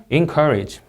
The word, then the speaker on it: encourage: 자, R 발음 유의해 주시고 encourage 이음절 강세 weather convenience drastically humid have an announcement.